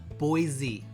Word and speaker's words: Boise: For those of you from Idaho, Boise. Z. They don't like it when you pronounce it that way.